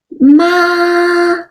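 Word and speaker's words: 妈: the syllable ma so the first one is ma it's a high flat Homer ma can have a try ma that means mom in Chinese the second tone is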